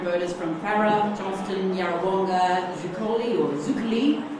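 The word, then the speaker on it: Zuccoli: Around 2,700 voters from Farah, Johnston, Yarrawonga, Zukali, as we've been schooled recently, as people prefer to be pronounced if you are of Italian heritage, and booted out of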